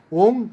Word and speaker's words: ওং: ও এন জি ওং অনেকে ও এম বলে ও এম বলবেন না ওটা ভুল উচ্চারণ ও এন জি ওং